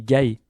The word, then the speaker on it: Gaé: __ ] mon pseudo se dit pas Gaet mais Gaé d'accord le t ne se prononce pas à la fin voilà donc c'est Gae 21 pas Gaette 21 parce qu'il y en a beaucoup qui disaient Gaette c'est pas Gaette OK c'est Gaé voilà je m'emporte un peu.